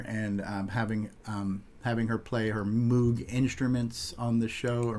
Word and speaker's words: Moog: Having the 8-bit guy on, meeting David and Danny O'Connor, and having her play her Moog instruments on the show, or Moog as it's pronounced, live from Radio Shack.